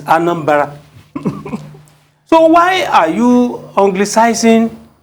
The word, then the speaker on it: Anambra: Because Anambra, that's not how it is pronounced in the village. It's Anambra.